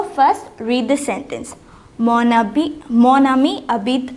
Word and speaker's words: amis: It becomes amis. And it is pronounced ami, but you add an s here.